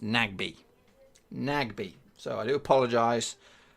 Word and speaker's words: Nagbe: Ngabe. Sorry. I've actually been told that his name is not Ngabe. It's pronounced Nagbe.